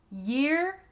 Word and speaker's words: year: Next, year and ear. The difference here is just the Y sound at the beginning of year.